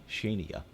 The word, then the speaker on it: Shania: Someplace it's Shania. Yeah. I've heard it pronounced Shania Shania. before. Not here. Shania. It's It's Shania. Shania.